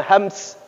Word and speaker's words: hams: Sebenarnya bacanya hams. Kalau orang Indonesia biasanya kalau hams, hamas.